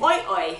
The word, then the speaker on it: OiOi: So, without further ado, the bag that I use is called the Australian Oi Oi, and that's spelled O-I-O-I.